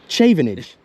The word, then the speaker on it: Chavenage: up here Challenger H how do you pronounce itage chavenage I've been saying it completely wrong all right chaven